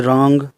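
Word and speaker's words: wrong: डब्ल्यू के बाद आर होने पर डब्ल्यू साइलेंट रहता है। जैसे रॉन्ग, रिस्ट, राइट, रिंकल।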